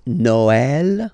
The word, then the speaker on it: Noël: that in some cases you will have to pronounce it like okay, like for instance Noël, okay, but then in some cases as well it can be pronounced like e, okay.